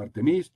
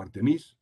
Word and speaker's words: Artemis: a cabo el programa artemisa en inglés se pronuncia al tenis es posible que en algunos sitios lo digan como al tenis bien me gusta decirlo en castellano programa artemisa